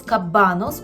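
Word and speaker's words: kabanos: ми скажемо польською кабанос Зверніть увагу на наголос кабанос у множині частіше використовується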